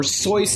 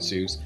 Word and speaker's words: Seuss: Seuss always said that, it rhymed with Mother Goose, or somebody pointed that out to him, so he was always okay with people pronouncing it Seuss.